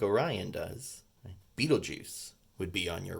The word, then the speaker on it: Betelgeuse: Betelgeuse isn't spelled like it sounds, right? It's not spelled like the famous movie.